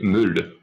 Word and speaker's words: meule: So, yeah, you say meule. Meule? So it's like a fuller sound on the U.